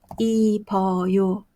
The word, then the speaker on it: 입어요: at어요 입어요 입어요 자 how to you sound this one버요 이버요 you should write어요 but pronounce 이버요 자, let's move on to be small is 작다.